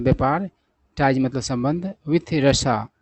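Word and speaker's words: Russia: Ties मतलब संबंध with रशा, इसको लोग रशिया पढ़ते हैं, सही उच्चारण होता है रशा।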